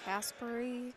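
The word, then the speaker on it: Kasparie: and by the way it's spelled k-a-s-p-a-r-i-e if you want to know what i'm trying to pronounce caspari kaspari i swear it almost sounds like he's saying casper but with the basketball's caleb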